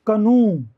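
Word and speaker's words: canoe: इसे हम कहते हैं कनु कनु होता है डोंगी छोटी नाव जिसके ऊपर कवर नहीं होता कनु उ उ का साउंड है कनु कनु तोय हो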